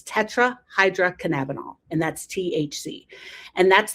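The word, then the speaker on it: tetrahydrocannabinol: It's tetrahydroinabonol.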